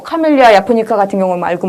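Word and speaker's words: japonica: 카멜리아 자포니카. 야포니카라고 읽는 게 정확하죠? 보통 자포니카로 많이 읽는데요. 자, 정확하게는 카멜리아 야포니카로 읽는 게 맞습니다.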